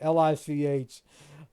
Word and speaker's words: Lich: acolyte Necromancer uh Lich lick it's a Lich King lick well I think it's a lich warlock whatever Lich uh rhymes with Rich it also rhymes with